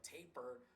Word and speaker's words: Tapirus: Well, it's actually supposed to be pronounced like taper.